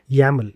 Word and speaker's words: YAML: yaml that is playbook.yml we pronounce it as yaml even though it is spelled as yml or yaml and the steps that